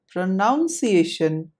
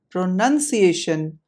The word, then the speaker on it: pronunciation: are number one pronunciation note the part of the word marked in red n-u-n none you may hear people around you saying it aloud as pronunciation but that's totally unacceptable